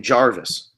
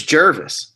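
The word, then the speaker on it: Gervase: his name is Jervis and you keep saying Jarvis he's he's he's complimenting your pronunciation of Jervis oh really it's Jervis yeah it's g rv- e Jervis yeah but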